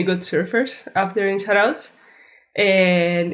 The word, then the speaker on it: Zarautz: And if you could help us with the pronunciation of your home break, that would be awesome. Yeah, it's called Zarautz.